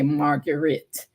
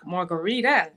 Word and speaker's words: Marguritte: it correctly I say margarit yes and that's the way it looks but it's actually pronounced like the drink margarita wow that's so good